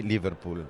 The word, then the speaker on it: Liverpool: però era più accentato, no? Verso la fine. Prego, più la prima sillaba.